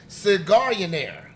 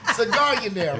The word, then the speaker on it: Cigarionaire: Clothing line, Cigarionaire. Yes. Man, let me tell you, I practiced that bitch 7 times before I said it. Cigarionaire, right? How you spell it? Like millionaire, but with cigar.